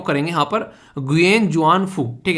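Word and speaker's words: Nguyễn Xuân Phúc: Basically इसको जो pronounce करेंगे वो करेंगे यहां पर गुयेन जुआन फू, ठीक है। तो गुयेन जुआन फू यहां पर बेसिकली एन साइलेंट है, ठीक है।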